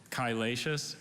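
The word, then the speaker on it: chylaceous: could you repeat all the information again sure kylatius is an adjective apart from greek to latin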